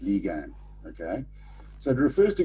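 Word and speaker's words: lagan: that's Jets some then you've got lean Lian pronounced Lian okay so it refers to Goods that are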